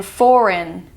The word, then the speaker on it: foreign: Next up, we have the GN sound, as in foreign. It just sounds like n. The G is silent.